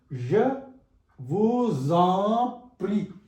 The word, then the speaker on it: je vous en prie: For example, the S is pronounced with E. For example, je vous en prie. This S is produced with the sound Z.